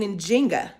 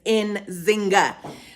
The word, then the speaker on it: Njinga: Now, some of us might be thrown off because we usually pronounce her name, given as the way the Portuguese have spelled and pronounced her name, as Nzinga. So we would know her as Queen Nzingha.